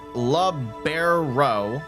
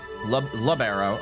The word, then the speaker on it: libero: So, you said um libero. I pronounce it labberero. Labbero.